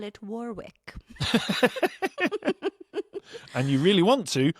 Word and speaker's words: Warwick: Ooh, go easy on the W. In fact, forget it's there. Warwick. There you go, Warwick. Very good. You just need a little tip, you see? Just a little snip. Yeah, just It's a like, little tip. Forget the W's, forget the second W's there.